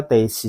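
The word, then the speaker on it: 停止: Teishi ini bacanya teishi. Apa artinya teishi? Teishi itu artinya berhenti, minasan. Hai, berhenti. Berhenti. Jadi, jiko de densha ga teishi shita.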